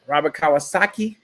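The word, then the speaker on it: Kiyosaki: Robert Kawasaki.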